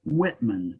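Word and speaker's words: Wittman: Michael Whitman, W-I-T-T-M-A-N. No, Thank you. Michael Whitman.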